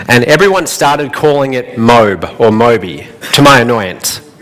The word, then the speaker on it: MOBE: I said, no, it's pronounced My Online Business Empire. But they didn't listen. They kept calling it MOBE. So eventually, I gave in and I said, okay, we'll just call it MOBE.